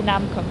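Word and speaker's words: 남궁: again Nam yes so in English I just say namkung but um it's a very rare last name um so some people call me Nam Kung instead of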